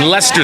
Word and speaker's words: Leicester: now I'm in where am I I'm in Lester Square I learned the hard way how to